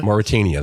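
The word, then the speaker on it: Mauritania: Pronounce it better. Some place in Africa, I believe. Moritania. Moritania.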